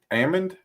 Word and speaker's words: almond: do you all say almonds almonds I know some people some people pronounce it like the L and or D is silent yeah Ammond almond my uh my cousin